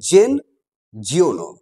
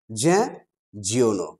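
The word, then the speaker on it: Jean Giono: নামটা হয়তো তোমরা উচ্চারণ করবে এরকম ভাবে, জেন জিওনো। আসলে উচ্চারণটা জেন নয়, উচ্চারণটা হবে জ্যাঁ।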